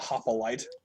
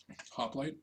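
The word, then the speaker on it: Hoplite: extra syllable in there it's not hoop a light hoplight hoplight hoplight delicious Hop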